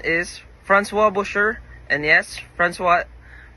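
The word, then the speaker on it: François: And yes Francois Francois is the correct pronunciation of his name.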